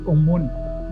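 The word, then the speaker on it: ОМОН: If you look at the text on the back of them, in Russian you pronounce it Omun.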